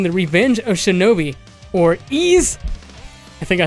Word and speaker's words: Ys: as far as ease I used to say why because it's very clearly says why yes but it's actually pronounced ease has is one of those series that has